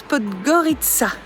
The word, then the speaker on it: Podgorica: Et voilà, donc c'est une très bonne chose de faite, on est content d'avoir découvert cette jolie ville qu'on prononce Podgorica par ici.